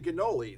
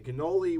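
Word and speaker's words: cannoli: to the 9th century now you're pronouncing that a little differently than I I've heard before why people seem to call it a canoli I guess C and you sound to be like you're pronouncing with a G now I've also heard it my my authentic real Italian friends not like me who's a fake Italian right they go ganol a g well you they always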